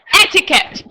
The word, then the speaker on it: etiquette: Together, etiquette. The stress is on the first syllabus, okay?